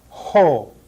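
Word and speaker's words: ὁ: a rough breathing Mark which is equivalent to putting an H sound in front of the vowel ho the same with the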